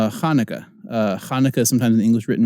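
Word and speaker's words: Hanukkah: it's a great letter Hannukah Hannukah sometimes in english written with the CH it's not chaunaca it's Hannukah Hannukah just remember the CH in the transliteration of Chanukah is making a guttural sound alright Tet is next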